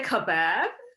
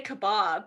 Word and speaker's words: kebab: pronunciation as well when you said kebab like most people say kebab yeah so that's another people do say kebab right um what do we say in the u.s what do you guys say in the u.s i say kebab but i guess in australia they say kebab yeah in the uk they say kebab as well because yeah yeah